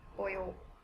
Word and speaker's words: pollo: So double L in Espanol is pronounced as Y, pollo.